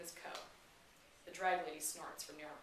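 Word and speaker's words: Coe: me his name is co the drag lady snorts from her nearby bench as an accompany i ask as in c-o-e spelled like toe and hoe the garden kind not the promiscuous kind it's my mother's name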